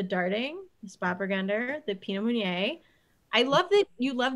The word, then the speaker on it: Meunier: And the Pinot Meunier, is that how you say it? Meunier. Yep, the Meunier.